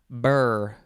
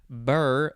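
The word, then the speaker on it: birr: Now we have burr. Couple ways to pronounce it.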